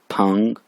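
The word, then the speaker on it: 朋: Twin लगी हुई है, इसको प्रोनाउंस करेंगे फंग, फंग, ठीक है।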